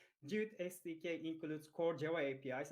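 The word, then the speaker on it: GWT: It's Google WebKit, but pronounced as Jute.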